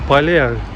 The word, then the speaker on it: Pale: I said, no, Pale, like, Pale, you know. I didn't even know that it would be called Pale, you know, it wouldn't be in my mind.